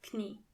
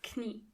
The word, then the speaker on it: Knie: der Rücken Knee means das Knie. And the in German, you have to pronounce the K. das Knie Knees are die Knie.